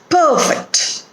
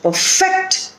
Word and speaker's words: perfect: for the road trip perfect first syllable is stressed because it is a noun my brother wants to perfect his bowling technique my brother wants to perfect his bowling technique here the stress is on the second syllable fit perfect so most